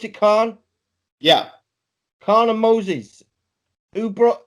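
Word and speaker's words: Kaun: Do you pronounce it Khan?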